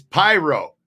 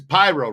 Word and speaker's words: Prio: It's Pyro. His name is Pyro. Ross Pyro, like a pyromaniac.